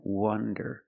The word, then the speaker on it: wonder: remember the pronunciation difference wander with the open Sound aw wonderand and wonder with the closed sound uh uh uh W Wonder